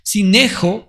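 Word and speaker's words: συνέχω: La palabra constreñir o apremiar, que está traducida al español en este punto, viene de una palabra griega que se pronuncia sinejo, ¿ok?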